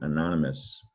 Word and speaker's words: anonymous: os all put together so you don't hear the oh it's ous but it sounds like anonymous uh how can you